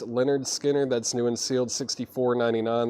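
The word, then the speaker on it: Lynyrd Skynyrd: we have in here Leonard skinnard pronounced Leonard Skinner that's new and sealed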